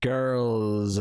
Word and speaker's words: Grrrls: Well, it's Lizzo's Watch Out for the Big, and then it's maybe the word girls, but it's spelled GRRRLS. Right, okay. Hence the emphasis on the prolonged R.